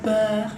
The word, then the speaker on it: peur: Avoir peur es miedo, peur, cuando la R final suena tipo como una G, bien, peur, bien, peur.